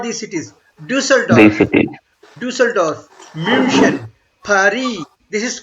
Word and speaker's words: Paris: This is a French word, so we try to pronounce it like French will do. Okay, Paris. This is not Paris. This is not Paris. You can say Paris. Paris is not wrong.